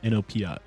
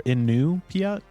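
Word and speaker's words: Iñupiat: It's not Inuit for this tribe that's mentioned in the show. The proper pronunciation is Inupiat. All right. Or Inupiat, I believe.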